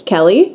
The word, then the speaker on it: Kelly: here hi I'm Megan if you don't know how to pronounce my last name that's okay nobody does hint hint it's Kelly so Megan Kelly um